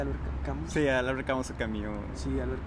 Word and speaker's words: Albert Camus: Albert Camus, no sé cómo se pronuncia Albert Camus.